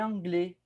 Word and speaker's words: anglais: Je parle espagnol et anglais. Je parle espagnol et anglais. Sin ese, anglais.